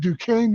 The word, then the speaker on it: Duquesne: I had to look up how to pronounce that, by the way. He attended Duquesne University and earned a BA in political science.